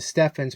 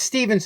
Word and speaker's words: Stephens: Some people used to pronounce it Steffens, but it's Stevens & Company, and you can see how this works and what we did with it here.